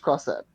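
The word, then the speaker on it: Crossette: It's pronounced Crosset.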